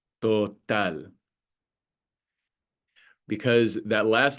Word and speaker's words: total: So total, total.